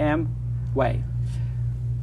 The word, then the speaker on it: Amway: mway is what yeah two syllables one word I have two syllables for you am way yes it it will